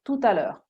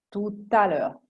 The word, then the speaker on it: tout à l'heure: Tout à l'heure vuol dire dopo, a tout à l'heure quando dite a dopo, tout à l'heure, la T di tu si attacca a, tout à l'heure.